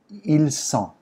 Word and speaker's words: ils sont: If it's a group of boys that you're talking about, ils sont. The S is strong. It's a strong sound.